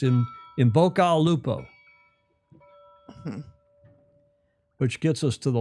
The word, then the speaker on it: in bocca al lupo: You say that all in one kind of, you don't pronounce the AL. It's in Bocca al Lupo.